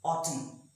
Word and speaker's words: autumn: end of the word, then the N is silent. For example, autumn. It is not autumn, but it's autumn.